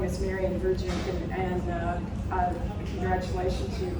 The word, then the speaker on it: Goshorn: He'll be introduced by Marianne Goshorn. I'm all can everybody hear me in the back? Okay. Okay. As he said, my name is Marianne Goshorn, and congratulations, you pronounced my last name correctly.